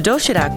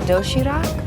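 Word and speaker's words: 도시락: The doshirak box offers a terrific, healthy variety of neatly packed food. It's called doshirak.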